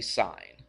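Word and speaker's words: sine: we use the sign it's actually spelled s i NE but we just shorten it to SI n we don't say sin we say sign all right A lot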